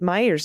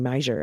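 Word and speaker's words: Meijer: you very much krista quick correction representative pete meyer's name is pronounced meyer or how you would pronounce meyer okay cool that's how i thought i did it at first and then i think i was saying major at the end this is relevant in his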